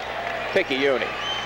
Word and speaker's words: picayune: Picayune.